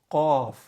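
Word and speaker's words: قاف: The rest of the letters, except qaf, are pretty easy to pronounce. So you have fa, which is the F sound in English. Fa, you see my lips. Fa, fa, and then you have qaf.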